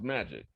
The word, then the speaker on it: MAEEJC: and economic justice coalition so m a uh e e j c so it'll be pronounced magic yeah okay and so